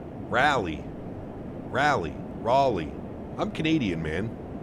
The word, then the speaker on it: Raleigh: It's pronounced Raleigh. Rally.